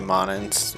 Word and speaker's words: mana: But I know some people say monins, but I think most people say mana.